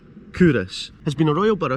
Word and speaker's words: Culross: just to again reiterate kurus pronounced kurus has been a royal